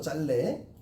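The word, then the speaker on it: 짧네: 얘들아 짤래가 맞아. 짤래. 짬내가 아니고 짤래가 맞아. 발음이 표준 발음이 짤래가 맞아. 리을 비읍은 리을이 살아남는 거예요.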